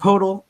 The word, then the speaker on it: Poeltl: Dude, it's like a cat does. What does a cat? What noise does the cat make, Mike? Poeltl. There you go.